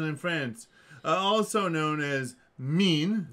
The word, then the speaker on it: Maine: Also known as Meen. Mean. Not spelled like the not two spelled E's. like the word for when you're just particularly malevolent. Mevenus, Mavenus, or Mewan was